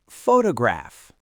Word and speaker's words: photograph: The stress is on the first syllable. Photograph. So the first O is a clear strong O sound. The other two syllables are unstressed. So they both get reduced to awah.